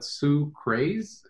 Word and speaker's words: Sucrase: It's like sucrose, but Sucrase, like Sucrase.